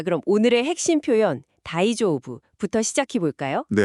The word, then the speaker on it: 大丈夫: 자, 그럼 오늘의 핵심 표현 다이조오브부터 시작해 볼까요?